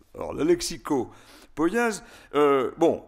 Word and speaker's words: lexicopoïèse: Je le dis en 2 mots parce qu'à mon avis, ça relève de la lexicopoïèse. C'est comme ça que je le prononce. Alors, la lexicopoïèse, il y a cette différence que je viens de faire entre lexicographie et dictionnaire.